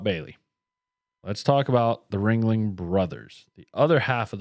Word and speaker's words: Ringling: It's Ringling. It's German, French-German. They were the son of a French-German immigrant.